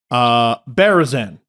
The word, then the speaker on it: Berezan: Berezan. Yep, no, that's how you say it.